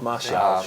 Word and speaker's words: Martial: Anthony Martial, is that how you pronounce Perfect. it? There you go. Martial.